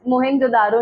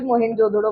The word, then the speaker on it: मोहनजोदड़ो: इट्स मोहेनजोदारो नहीं, इसको हिंदी में भी मोहेनजोदड़ो बोलते हैं. मोहेनजोदड़ो की किसने खोज करी थी, डिस्कवरी? सरनेम याद रख लो, बैनर्जी नाम था। दयाराम सानी हड़प्पा, आर.डी. बैनर्जी मोहनजोदड़ो, आर.डी.